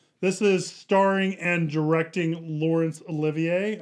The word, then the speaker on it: Laurence Olivier: is starring and directing lawrence olivier i think it's how you say his name yeah he doesn't want to be called lawrence oliver nope no one does